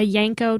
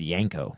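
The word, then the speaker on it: Yenko: A Yanko 201 Camaro. Yanko, not Yanko. I said Yanko. Okay, Yanko. So that's badass. What did you think I said? Yanko. I thought you said Yanko.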